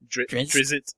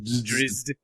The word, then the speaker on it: Drizzt: the way, it amuses me that no one can pronounce that name, apparently. Drizzit. Drizzt.